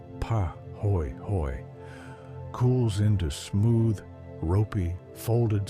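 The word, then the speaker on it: pāhoehoe: Po ho lava, the Hawaiian word pronounced pa hoy hoy, cools into smooth, ropey, folded surfaces like twisted fabric or the skin of a sleeping animal.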